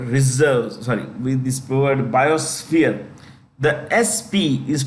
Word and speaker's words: biosphere: When you pronounce this word reserves, sorry, with this word biosphere, the SP is pronounced with an S, F, sphere. We don't say sphere, okay, like biosphere, like F आना चाहिए. F should come in, biosphere.